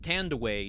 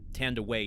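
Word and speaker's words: Thandiwe: but uh this is the first film that tand away Newton uh uses the she said that when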